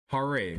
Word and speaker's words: Harare: Pronunciation. Harare.